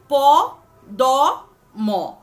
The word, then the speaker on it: পদ্ম: সুতরাং প দ ম তার জায়গায় হয়ে গেল প দ দ।